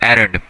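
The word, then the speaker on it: errand: अच्छा, बच्चे इसको जो है ना इरेंड, इरेंड पढ़ रहे होते हैं, इरेंड पढ़ रहे होते हैं इस बच्चे इसको। तो बेटा इसकी जो करेक्ट प्रोनाउंसिएशन है वो है एरंड, ठीक है।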